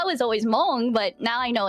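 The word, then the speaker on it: Hmong: For Mong people, you'll hear kind of like a small like h uh syllable at the beginning because uh Mong the Mong language uses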